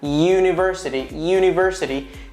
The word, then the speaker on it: university: Sí, por ejemplo, la palabra university, que se escribe U con la U, university, pero suena university, tiene un sonido de Y en el inglés, y.